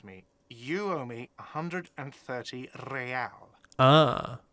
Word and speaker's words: real: You owe me 130 real. Ah. He pronounces the R with a mock aristocratic accent.